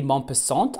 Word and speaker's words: Maupassant: Then I have Guy Maupassant, I think is how you say it, like death.